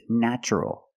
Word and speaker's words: natural: first syllable is pronounced with a short a like black cat a a NN natural natural is the adjective now